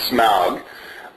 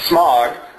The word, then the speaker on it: Smaug: It's been taken by a dragon named Smaug. I honestly grew up pronouncing it Smog.